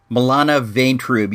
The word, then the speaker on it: Milana Vaintrub: Her name is, I believe it's pronounced, Milana Vaintrub.